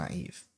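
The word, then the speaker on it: naïve: mouth, but trust me, those two dots, Are what bring the ieev sound to naive. Without it, we're going back to the caves and rhyming with it to.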